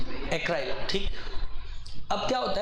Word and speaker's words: acryl: एसाइल नहीं, एक शब्द है ACRYL, एक्राइल, ACRYL, एक्राइल। सही प्रोनाउंस कर रहा हूं? एक्राइल, ठीक।